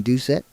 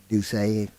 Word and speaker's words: Doucet: His battery mate is Peyton Doucet. That's another one, Chris. I'm going with the French pronunciation. Doucet. I think Morgan City would be Doucet. I think it's just Doucet here.